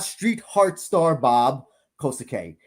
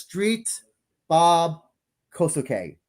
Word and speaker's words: Street Bob Kosuke: It is not Street Heart Star Bob Kosuke. It is just Street Bob Kosuke. The heart and star are silent, apparently.